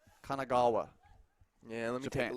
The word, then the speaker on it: Kanagawa: it's the fun in it is trying to pronounce the city names Kanagawa yeah let me take a look Kanagawa yeah